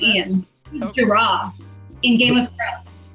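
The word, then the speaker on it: Iain: I think they just pronounce it Ian.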